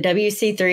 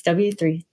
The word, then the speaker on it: W3C: always get it wrong is it WC3 or w3c we always mix up like which one it's w3c w3c okay I was saying